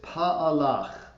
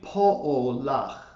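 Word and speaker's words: פָּעֳלָךְ: A lot of us will tend to look at that word and think that it's pa'alach. It's actually po'olach.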